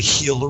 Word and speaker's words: Gila: and there's a there's a river called the Gila River spelled with a G River and it's mostly dried